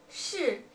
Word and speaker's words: 是: And we pronounce yes is 是.